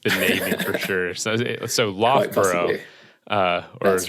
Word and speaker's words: Loughborough: I think because of the ridiculous spelling and pronunciation, I think you've seen, it's got 2 different O-U-G-H parts to the word, and they're both pronounced differently, which is a nightmare for anyone who's not from the area.